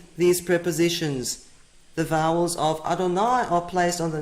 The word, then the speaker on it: Adonai: vowels on the name these prepositions tell us that they pronounce the name as Adonai here's an example where